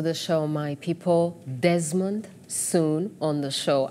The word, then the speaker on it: Soon: Desmond, soon on the show. Am I saying it right, by the way? It's soon. It is soon.